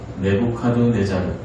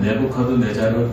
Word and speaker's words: 네부카드네자르: 이 느부갓네살 역사적으로 정확한 이름은 저도 어렵습니다만 네부카드네자르입니다. 네부카드네자르, 정확하게 말하면 네부카드네자르 2세입니다.